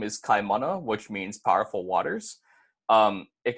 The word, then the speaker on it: Kaimana: word for ocean for instance my name is Chi mana which means powerful waters it can also be